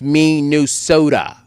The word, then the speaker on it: Minnesota: Salamu zimfikie the real LC amesema, I was trying to help you pronounce Minnesota. It's pronounced Minnesota.